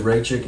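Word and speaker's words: Rakić: uh he wants to fight ratchet rachel alexander ray chick you're pronouncing that right yeah yuri uh anthony smith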